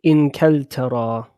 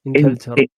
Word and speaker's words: إنجلترا: We say Inkeltara. Okay, Inkeltara. إنجلترا. You can pronounce it with a Jim as well. But I prefer to say with a calf. Okay, Inkeltara.